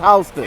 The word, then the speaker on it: Houston: It's spelled like Houston but it's pronounced Hston.